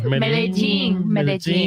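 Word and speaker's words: Medellín: Medellin.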